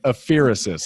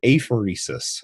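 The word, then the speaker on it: apheresis: pronunciation guide on it regenerative a fiercest I think is how you pronounce that what does that mean and did I do that right well no you didn't regenerative a phoresis a phoresis a phoresis a phoresis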